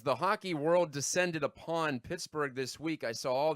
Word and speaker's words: Pittsburgh: Again, like pizza, it's 2 syllables. Pittsburgh. It doesn't take long to say it.